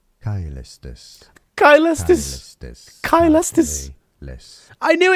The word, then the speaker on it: Caelestis: Caelestis. Caelestis. Caelestis. Caelestis. I knew it. I fucking knew it. It's a K.